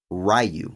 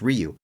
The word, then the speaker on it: Ryu: it said out loud however the movie incorrectly pronounces Ryu the movie says rayu which is not how you pronounce that folks it's Ryu however in an interview with uh with Byron